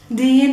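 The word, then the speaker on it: دِين: to change the vowels, remove the short a, and just continue pronouncing and reading all the letters normally. The d, the long e, and the neen, the noon. Deen, it means religion.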